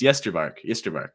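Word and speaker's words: Ysterbark: It's said like it's spelled, right? Huh. No, I'll tell you. Yeah, it's Yesterbark, like that. Just like basically just put an E in between the Y and the S in the beginning, and it's as simple as that.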